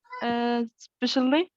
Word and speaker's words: especially: We do not have gemination in English. مفيش شدة في الإنجليزي. Look at this. لما أجي أقول مثلا support, it's not support. Comment, it's not comment. Especially, it's not especially.